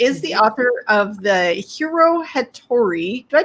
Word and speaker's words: Hiro Hattori: And she is the author of the Hiro Hattori. Did I pronounce him right?